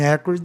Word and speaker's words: acrid: Aí sim, acrid está certo. Vogal antes de duas consoantes, o A fica entre A e E.